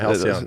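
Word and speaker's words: Halcion: Halcyon. Is that how you say it? Yeah, Halcyon.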